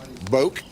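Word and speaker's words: Boek: Boak, B-O-E-K? That's Polk County pronunciation. So that is subject to modification by someone who may have a different interpretation being the family, but we call him Boak.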